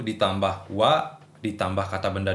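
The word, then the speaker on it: は: Tapi yang jelas ha, kalau dia sebagai partikel dibacanya wa. Oke, bukan ha ya. Wa.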